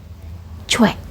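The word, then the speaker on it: 최: yang seringkalian baca yaitu coy padahal ini adalah hanya tulisan dan cara bacanya ini bukan coy cara baca yang benar yaitu menjadi cuek betul cuek karena tulisannya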